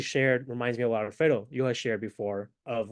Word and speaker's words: Alfredo: I sense you can, to roll your R when you say my name, brother. It's Alfredo. Not Alfredo. Alfredo.